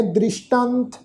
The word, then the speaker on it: दृष्टांत: नह दृष्टांत जम दूतन है। नह दृष्टांत, दद्दा रारे नू सिहारी, ससे पैर बिंदी लगा के पाठ उच्चारण करांगे।